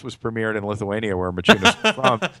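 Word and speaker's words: Maciunas: The irony is this was premiered in Lithuania, where Machunas was from, and everybody called it with our spelling Makunas. Right. So they mispronounced it.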